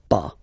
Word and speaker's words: pas: have to put this pas. Okay, so first ne, then the verb, and after that, pas. Okay, we write it PAS, okay, but as usual, final S is not pronounced, so it's pas.